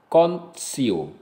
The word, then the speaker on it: contio: Pengecualiannya adalah ketika TI diikuti oleh huruf vokal, dan tidak didahului oleh huruf S, maka diucapkan TS. Misalnya tio, altior, contio.